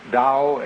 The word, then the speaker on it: Tao: called a dao tao pronounced dao in the mandarin dialect tao in the shanghai dialect told in the cantonese